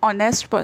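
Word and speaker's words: honest: यहाँ पे अब स्पेलिंग तो एच से स्टार्ट होती है, बट हम इसको प्रोनाउंसिएशन इसकी क्या होती है? ऑनेस्ट। इसको हम ऑनेस्ट बोलते हैं। एच हमारा साइलेंट होता है, साइलेंट होता है, इसलिए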